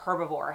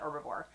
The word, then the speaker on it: Herbivore: So I saw this in the Just Arrived section, and it is from the brand called Herbivore, or Herbivore, however you want to pronounce it. I call it Herbivore.